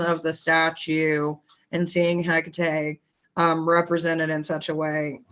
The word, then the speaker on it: Hecate: comes to the pronunciation, if you look at the actual Greek pronunciation, H is really one of those kind of like silent. You never really hear it. So it's actually Hecate.